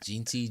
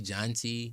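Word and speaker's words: Jeanty: Yeah, I was just thinking how to pronounce his last name. I was like, is it Genty? Jonty? Yeah, I think it's Genty.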